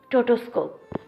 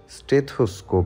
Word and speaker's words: স্টেথোস্কোপ: নিয়ে প্রফুল্ল গলায় বলেও টোটোস্কোপ আকস্মিক ঘটনায় মন যতটা না অবাক হয় তার থেকে বেশি অবাক হয় মোহর ভুল উচ্চারণ শুনে সঠিক করে দিয়ে বলে টোটোস্কোপ আবার কি জিনিস স্টেথোস্কোপ হবে আগে কখনো দেখেননি দেখেছি বহুবার